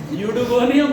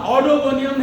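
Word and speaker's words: Oedogonium: तो रेगुले यूडोगोनियम बोलना, ऑडोगोनियम नहीं बोलना है, याद रहे।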